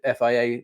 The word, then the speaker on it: FIA: But if we fast forward to this time next year, autumn 2026, what do you hope the FIA investments looks like, or FIA investments look like? How do I pronounce it, by the way?